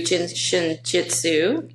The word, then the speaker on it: Jin Shin Jyutsu: so for our listeners who are new to jinin Jitsu am I pronouncing that correctly you are pronouncing it correctly